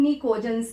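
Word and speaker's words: Pnictogens: जो group नाइट्रोजन वाला होता है 15, इसको हम निकोजेंस कहते हैं. पी साइलेंट रहता है.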